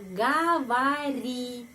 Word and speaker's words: говори: Говори di sini penekanan pada huruf I. Karena itu 2 huruf sebelumnya O yang vokal tidak mendapat penekanan, karena itu dibaca A. Говори.